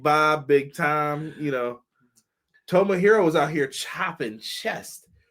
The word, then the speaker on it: Tomohiro: are all going to learn how to properly pronounce these names Ring of Honor world champion Chris Jericho Tomah hero e who call them big time you people